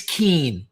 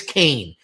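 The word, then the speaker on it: Kean: And like five people in the comment section on YouTube were like, "It's Keen." And I was like, "I know it looks like Keen, but trust me, it's Kane.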